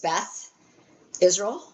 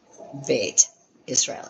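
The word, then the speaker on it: בית ישראל: That's why when you see like on congregations it says Beth Israel. It's really just bait. It has the th sound because they have a dot the dogish in the middle. Bait Israel is really the name of it.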